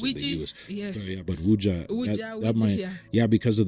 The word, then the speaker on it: Ouija: And for the real sorcerers, they use what they call Ouija boards. Yes. I think just there's a slight difference in pronunciation in the U.S. They call it Ouija boards in the U.S. Yes. But Ouija, Ouija, that might, because of the way it's spelled.